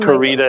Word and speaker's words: Koryta: Koryta. It's spelled k o r y t a.